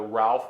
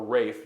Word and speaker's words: Ralph: We know of one gentleman by the name of either Ralph or Rafe, depending on how he pronounced it, Wormley, who was active in Virginia's government prior to the war.